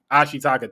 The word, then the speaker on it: Ashitaka: shiaka I can always get the main character's name wrong I'm sorry uh because he really carried the movie ashitaka thank you bro this is why a you